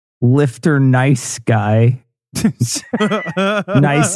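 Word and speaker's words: gneiss: Nice is spelled with a G-N.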